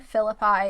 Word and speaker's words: Phillippi: right you guys so after hearing 15 different ways to pronounce their name i think philip i is the actual correct pronunciation so i will do